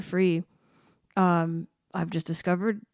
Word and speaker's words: Free: Free, and he's spelled like it sounds, Free.